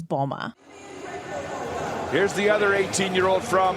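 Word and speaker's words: Mboma: pronounce her name wrong I've heard bomba Mamba M Bomba but just so we're clear her last name is Bulma here's the other 18-year-old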